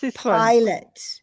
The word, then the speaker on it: pilot: In my other language, we say pilot as well, because English is the only language where the I is pronounced I like that. Every other language, it is always E.